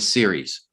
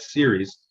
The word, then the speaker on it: Ceres: series the dwarf planet series pronounced series like television series but it's spelled c-e-r-e-s or anybody doesn't know